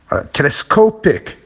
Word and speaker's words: telescopic: Telescopic, it's in the middle.